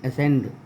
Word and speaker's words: ascend: देखिए, ये है ASCEND, इसको बोलते हैं हम एसेंड। सी का उच्चारण नहीं हुआ।